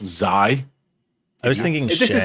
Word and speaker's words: xAI: some other stupid way it's obviously pronounced zai I was thinking this